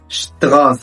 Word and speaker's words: Straße: الST عندنا بتنطق شت. zum Beispiel Straße يعني شارع.